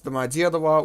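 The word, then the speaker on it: Домодедово: and we are at Domodedovo, or, well, I think that's how you would say it in English. The correct term is Domodedovo, which is how it is pronounced in Russian.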